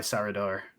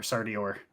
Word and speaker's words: Sardior: memory attached but um by sarador or Sardi or sorry I always mispronounced my God's name um but by sardior um I believe that